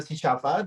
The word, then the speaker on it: Chichava: So Shishafa, hopefully I pronounce it right. Is it Shishafa? Okay, cool. Shishafa, the Mozambican dancer and choreographers, also the artistic